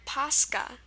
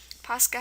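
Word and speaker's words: Пасха: And the final word, Paska. Paska has KHA, a molded Russian dessert.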